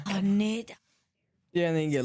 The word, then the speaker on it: Haneda: You Or say Hanada. Canada, Haneda. Canada airport. Haneda.